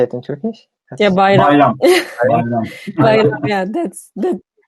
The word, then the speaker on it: Bayram: Katala Bayram, this is how you say it in Turkish? Yeah, Bayram.